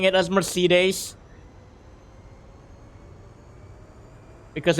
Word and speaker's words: Mercedes: just like got off like the pit Mercy days like it could be the name of a